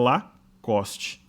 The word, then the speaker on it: Lacoste: o símbolo da marca ea pronúncia correta é o lacoste ok então traçando o